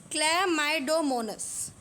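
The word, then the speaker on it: Chlamydomonas: spirogyra तीसरी climb डोनस climb डोनस को आपको प्रोनाउंस करते करते थोड़ी सी हिचकिचाहट हो रही होगी तो करते है दिस इज क्ले माइडो मोनस क्ल माइ डो मोनस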